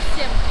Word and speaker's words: всем: Всем. Сим.